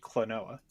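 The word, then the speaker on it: Klonoa: the Switch, but anyway, Clonoa, how do you pronounce Clonoa. Clonoa, thank you.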